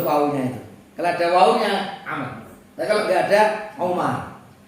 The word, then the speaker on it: Amr: Kalau Amr itu apa itu ada wawunya ini, bacanya Amr. Jadi kalau Amr bin As itu ada wawunya. Kalau Umar itu tanpa wawu.